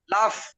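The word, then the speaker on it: laugh: পড়ে নিন খুব দ্রুত হাসার ইংলিশটা কি হবে লাগ নাকি লাফ লাফ লাফ আপনারা লাফ দেন না এক জায়গায় আরেকজন লাফ দেন লাফ লাফ মানে এফ নাই কিন্তু এফ এফ এর উচ্চারণ হবে লাফ হ্যাঁ হ্যাঁ হ্যাঁ এফ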